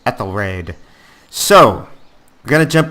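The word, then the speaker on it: Æthelred: wrong the entire time it's not Ethel red it's eth so I think at least one person out there had thought I was saying it wrong you are correct I was wrong it's eth raid so we're going to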